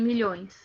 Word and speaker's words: milhões: Olha como que separa a sílaba em milhões.